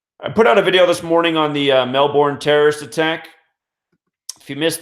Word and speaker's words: Melbourne: 38 just real quick Mel Bourne I was also told by somebody from there that you don't pronounce the R you just say Melbourne they say they call it Melbourne over there so alright